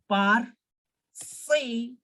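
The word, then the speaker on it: parfait: pronounced as say and perfect will be pronounced as par say parcy like this you can pronounce it and yes it's perfect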